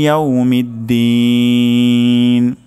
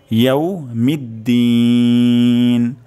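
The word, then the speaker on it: يَوْمِ الدِّينِ: তারপর শব্দটি হলো মিদ্দিন, মিদ্দিন দিন এখানে আমরা ৩ আলিফ পরিমাণ টান দিব। তাহলে মালিকি ইয়াউমিদ্দিন, মালিকি ইয়াউমিদ্দিন, মালিকি ইয়াউমিদ্দিন।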